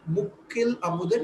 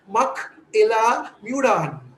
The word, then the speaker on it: Mukil Amudan: Indian names, for example, Mukil Amudan is a nice word, Mukil Amudan. But if an English reader reads, he'll say, Mak Ila Mudan.